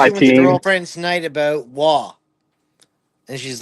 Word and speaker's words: Roy: I was like, why do they keep saying Wah? Guy's name is Roy, Mom.